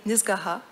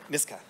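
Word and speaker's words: Nisga'a: Jordan est un écrivain nisgaha. Is that right, the pronunciation? Niska.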